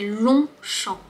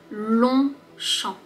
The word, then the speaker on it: Longchamp: Long, on ne prononce pas le G.